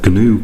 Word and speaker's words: GNU: The compiler that I'm going to be using for these tutorials is the GNU compiler. The G is actually pronounced in GNU, I believe.